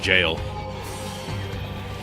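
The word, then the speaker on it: gaol: Oh, I'm in the goal. Okay, this actually pronounced jail.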